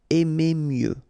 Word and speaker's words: mieux: Final X not pronounced. Aimer mieux.